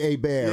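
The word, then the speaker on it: Hébert: That's not how you pronounce it. Yeah. For me, it does. Bobby A. Bear. He's French.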